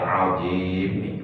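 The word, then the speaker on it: عظيم: Jadi dalam ruku yang benar bacanya subhana rabbiyal azim wa bihamdi, subhana rabbiyal azim wa bihamdi, subhana rabbiyal azim wa bihamdi. Azim panjangkan itu minimal 2 hal.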